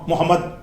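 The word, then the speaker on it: محمد: போகும்போதுதான் ஒத்த சொல்லா சொல்லும்போது ஒரு ஆளுக்கு முகமதுன் என்று பெயர் இருக்கு அப்படியே நம்ம கூப்பிடுறோம் முஹம்மத் முஹம்மதுன் என்று பெயர் இருந்தா என்ன செய்றோம் முஹம்மத் அப்படித்தான் நம்ம கூப்பிடுகிறோம் அந்த மாதிரி அந்த சுக்குன்ல சுக்குன் என்றால் அந்த மெய் எழுத்துல அப்படித்தான் உச்சரிக்கிறோம் அந்த அடிப்படையில இந்த கோடு மாதிரி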